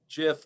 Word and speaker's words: GIF: the late 1980s that the pronunciation is jif with a soft g as in gelatin or